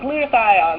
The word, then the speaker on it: glutathione: remember how to say the name of itut glutathion glutathione that's that's what it is and it didn't